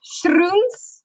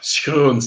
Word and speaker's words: Schroons: My last name has never ever been pronounced correctly by an English-speaking person, which is. What was it? Schroons? Yes, that is what people. That's what people say, but it's Schroons.